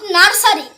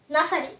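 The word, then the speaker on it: nursery: ই আর ওয়াই নট নার্সারি টুবি নার্সারি মানে হচ্ছে শেষশালা আমরা সবাই কিন্তু নার্সারি অর্থাৎ এই যে আমরা বলে থাকতাম যে আমরা নার্সারিতে পড়েছি আসলে উচ্চারণ হবে নাসারি আমরা সবাই নাসারিতে পড়েছি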